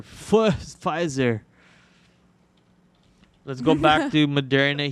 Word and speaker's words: Pfizer: fill that very soon you're supposed to pronounce p and pfizer pfizer let's go back to